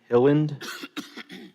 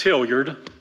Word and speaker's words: Hilliard: in opposition Mr hilland I hope I got close to the pronunciation it's it's Hilliard Hill nerd my name's you